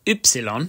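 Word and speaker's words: Ypsilon: Sometimes, the letter Y, which is called Y, which in itself is great, can be used as a vowel, making an Ü sound.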